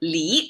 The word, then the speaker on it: 骊: actually in Chinese that's Le and I probably just mispronounce it at Le but I check the dictionary it's Lee actually um so besides the